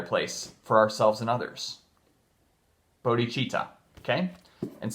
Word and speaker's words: bodhicitta: Bodhicitta, okay? And some people say bodhicitta, but it's bodhicitta, I think. At least from the pronunciation guides I've looked up. But I've heard both. Some people do say bodhicitta.